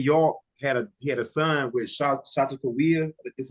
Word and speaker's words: Sacagawea: No, Ben York had a son with Shatakaweah. Is how you say her name. And Sacagawea.